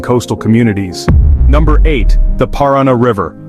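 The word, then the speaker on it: Paraná: Number eight, the Parana River. Often mispronounced as Piranha.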